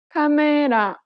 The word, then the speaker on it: 카메라: But in Korean, each syllable is pronounced for the same amount of time and gets equal stress. Listen to the word camera in Korean. 카메라, This principle applies throughout